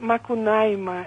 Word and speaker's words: Macunaíma: a esta semana y se pronuncia macunaíma y norma con ahí